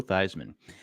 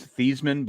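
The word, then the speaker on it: Theismann: friend can't stand Joe thyman you know his his actual name is thian but he he wanted to sound like Heisman who was in college he changed it to thyman to rhyme with Heisman why would he hang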